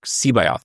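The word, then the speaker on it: C'baoth: I never wanted to just be, like with the Joyce Sebayoth. I can never pronounce it. Sebayoth. That's how Zahn told me to pronounce it.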